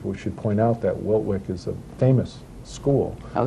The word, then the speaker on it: Wiltwyck: I want to make sure I pronounce it right, is it Wiltwyck? The reform school? Yes. Yes.